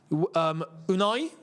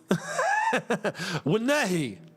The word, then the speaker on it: Ounahi: Unai? Wunehi is the name.